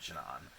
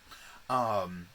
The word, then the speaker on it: Shanann: She is worried sick about her friend Shannon. And Shanann. I'm sorry. Thank you everybody for telling me the how to pronounce her name, and here I am doing it wrong, so I'm sorry, Shanann.